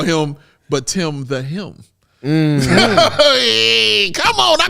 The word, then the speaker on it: Bitim: got the pronunciation right it's actually btim not B team and I appreciate you